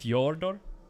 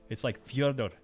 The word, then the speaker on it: Fyodor: It's not pronounced like a y. It's not Fyodor. It's like Fyodor. And then you do like a very silent rolled R at the end.